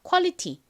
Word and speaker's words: quality: 품질이 좋다 질이 좋다라는 의미이죠 자 따라해 보세요 Quality qu Quality 좋습니다이 단어 한번 미국식 원어 발음으로도 연습을 해 볼까요 먼저 가장 앞에 유는